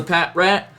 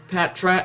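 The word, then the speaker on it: Patrat: because of that anyways here's a pat rat Pat trat however you want to pronounce it I've heard both ways oh there's bide yeah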